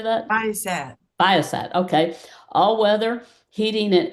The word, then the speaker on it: Viasat: She previously worked at Viasalt. How do you say that? Why is that? Viasat.